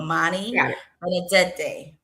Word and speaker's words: mani benedette: Okay, so it's mani, like think of manicure, but mani benedette day. Benedette day. Yes. Okay. It means blessed hands in Italian.